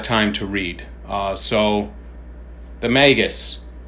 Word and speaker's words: Magus: of this is that it's pronounced Magus. I always thought it was Magus, the Magus.